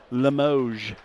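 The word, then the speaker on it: Limoges: sure to pronounce right Limoge there's the S is silent I had to find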